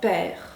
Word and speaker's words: père: Le E accent grave qui se prononce plutôt est, comme dans père, et père.